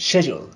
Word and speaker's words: schedule: don't pronounce that sound it is just schedule with the stress on the first syllable let's continue with the